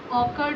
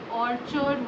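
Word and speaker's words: orchard: तो देखो इसका प्रोनाउंसिएशन आप ध्यान रखना, ऑर्चर्ड का ऑकर्ड नहीं होता है, ऑर्चर्ड होता है, ऑर्चर्ड।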